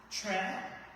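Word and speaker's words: Kyereh: My name is Tre. Trey is spelled K Y E R E H.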